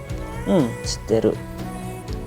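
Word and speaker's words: 知ってる: Nah, ini bacanya ya, bukan tapi shitteru.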